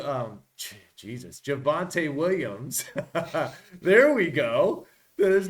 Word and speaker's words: Javonte: you've got J uh Jalil mofin uh almost butchered that from Denver uh with de Devonte um Jesus javante Williams there we go there's no Javonte Williams